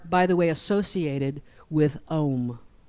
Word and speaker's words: Om: These are, by the way, associated with Om. Now, we often say Om in the West, O-M, but technically you would write that sound. You might have seen it spelled A-U-M, right?